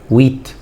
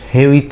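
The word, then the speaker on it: huit: لي ها غلط يعتبر حرف الاش غير منطوق يعني ببدا انطج من الفعل ابدا انطج من الحرف التالي من اش اللي بعديه يعني يبقى ويت ويت ماقولش هويت خطا ويت حرف الاش صامت لا ينطق ايماج اي ايماج حرف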